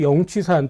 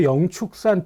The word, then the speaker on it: 영취산: 영취산 또는 한국에도 영축산 또는 영취산이라고 똑같이 이제 두 가지 발음으로 읽히는데요. 보통 영취산 이렇게 편의적으로도 써보고 합니다. 영축산이라고 쓰는 경우도 많이 있으니까요.